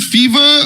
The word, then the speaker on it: FEV3R: How do we pronounce this? Is it fever or fever?